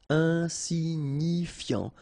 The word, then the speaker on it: insignifiant: Insignifiant. Okay, final T not pronounced, so you've got this I-A-N, yan, so F before, fiant. Insigni, okay, remember, G-N-I, ni, ni, insignifiant. Insignifiant.